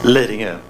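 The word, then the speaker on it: Lidingö: He's attending physician and psychiatry in Lindinge. Is that how you pronounce it? Lindinge, yes.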